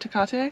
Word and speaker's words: Tecate: We're going to the Tecate, is that how you say it? Tecate?